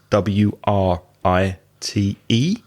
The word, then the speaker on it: write: there's this kitty beard which is with a W that's silent WR i te I'm going to write